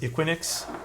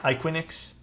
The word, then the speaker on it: IQUINIX: It's called the I guess it's pronounced IQUINIX. IQUINIX.